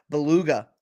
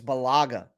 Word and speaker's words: Bellaga: is gonna tell me i would say beluga like the whale but it's bellaga okay maybe it could